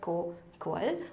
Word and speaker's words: Koqal: It's pronounced as Coquel.